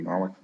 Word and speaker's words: Norwich: Um, Although probably want to electrify, doing Norwich, not sure how it's pronounced in New England. In Britain, it would be Norwich.